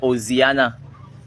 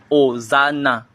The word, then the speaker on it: Hosanna: C'est peut-être c'est le prophète ou bien la prophétesse qui donnait et la révélation qui disait Oziana. Ce n'est pas Oziana, c'est hosan. Hosanna.